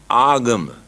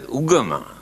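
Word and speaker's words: āgama: Here now they pronounce as ugama, but the original word is agama.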